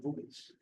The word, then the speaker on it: buoys: also sensors on buoys the right pronunciation boies uh to collect information